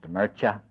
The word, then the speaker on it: Mircea: And that's Mircea, pronounced Mircea, Eliade, Eliade.